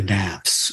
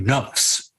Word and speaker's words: nafs: what they call the Naps actually some some superheres would say every layer is the mass but in this way of looking at it and it's spelled navs nafs okay it's actually nuts it's actually I think